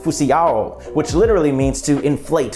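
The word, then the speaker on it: φυσιόω: up, which actually comes from a Greek word pronounced phusiao, which literally means to inflate with air, which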